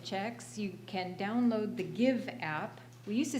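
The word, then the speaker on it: Gyve: you can download the give app we used to say it's print it's um spelled g-y-v-e but now we're just saying it's pronounced give but anyway it's on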